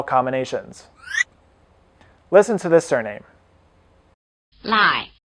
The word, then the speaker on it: Lài: Lài, Lài, Lài Notice that the diphthong "ai" is spelled AI as in Shanghai, which in Chinese is pronounced like this.